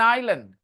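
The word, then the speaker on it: island: एन इट वाज एन आइलैंड S silent everyone I एस एल ए एन डी आइलैंड hey don't you have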